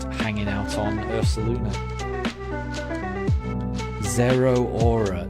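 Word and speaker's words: Zeraora: Zero Aura. Zero Aura. Is it pronounced Zerora? That's Yeah, I would never have I would never have got that.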